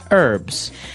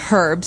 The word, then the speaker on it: herbs: Americans and Canadians say herbs. It has an H in the front. That's why it's confusing. Okay, so we can accept basically if somebody says herbs, but I guess in American English it's more commonly pronounced as a silent H.